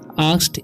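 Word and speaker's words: asked: नियम पता है ठीक आस्ड इसे पढ़ेंगे आ ठीक अ अकेट नहीं पढ़ना है बहुत सारे स्टूडेंट्स अकेट पढ़ देते हैं जैसे मैं भी गलती किया था शुरू शुरू में ठीक तो अकेट पढ़ते थे लेकिन इस अस्क नहीं आस्क पढ़ना है क्या पढ़ना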